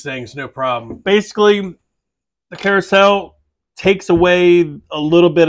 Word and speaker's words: Curaçao: way little fun note everyone keeps mispronouncing that I've done it for I don't know how many years actually had to make sure I figured out how to pronounce that correctly Carousel it's an orange leor